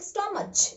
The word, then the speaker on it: stomach: But the pronunciation is not like stomach.